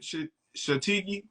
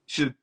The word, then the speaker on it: shiitake: What how you pronounce it? Shiitake. Shiitake.